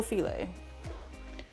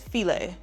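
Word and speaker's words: filé: This is gumbo filet. It says file. Ooh, wait, hang on. Where's the camera? There it is. It's spelled F-I-L-E, but it's filet. So when you ask for it, call it gumbo filet.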